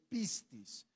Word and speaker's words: pistis: una palabra griega que se escribe pistis Okay así como el piste pero es pistis y cuando nos relacionamos